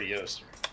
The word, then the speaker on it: Eostre: what do you prefer i prefer yoast all right and it is that i will use it's the old pronunciation so come here often